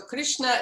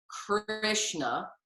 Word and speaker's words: Krishna: gopala jaya govinda so krishna is generally pronounced with a rolled r and there's actually no i in there so we don't say krishna we say it's more